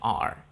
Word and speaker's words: are: Se escribe are, se pronuncia R.